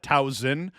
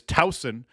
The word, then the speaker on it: Towson: proper pronounce pronunciation is Towson with a soft s not that hard Z sounding s but uh they actually